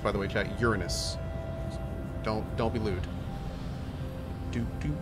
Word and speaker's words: Uranus: Uranus, it's pronounced by the way, chat, Uranus.